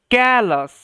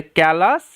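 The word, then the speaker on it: callous: ওকে ওকে এখানে বলছে ক্যালাস ও ইউএস আস এরমভাবে উচ্চারণ হবে ঠিক আছে কলাস ডেয়েট ওয়াজ ভেরি নটরিয়াস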